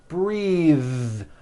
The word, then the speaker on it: breathe: suit breathe same thing breath is a noun take a breath unvoiced but when you change it into a verb the vowel changes and it becomes breathe I am breathing with a voiced th now let's do some